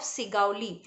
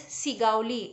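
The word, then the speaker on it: Segowlee: of a big house in the town of sigali so you it can come in the fill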